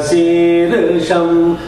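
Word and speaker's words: शीर्षम्: So when you are saying the Sirsham, I think it should be on the Ra, Sirsha, right? Ra is the syllable where you have to say the higher note, not on the Sha. Sahasra Sirsham Devam Vishvaksham Vishvashambhuvam. See, not on the Sha, on the Sirsha. Ra, Sha is together.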